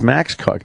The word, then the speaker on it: Koch: It's spelled like cock, like Jim Cook spells it, Koch. But it's Max Cook.